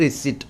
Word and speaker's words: receipt: রিসিপ্ট এই বানানটা ভুল, এটা কারেক্ট হবে RECEIPT, রিসিপ্ট, বা এটা উচ্চারণ হয় রিসিট।